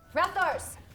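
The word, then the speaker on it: Rathtar: First syllable, rat. Second syllable, tar. Rathars.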